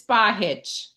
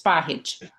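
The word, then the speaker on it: Spahić: It is Spahich. It has a little accent above the C, so it's pronounced as a CH, Spahich.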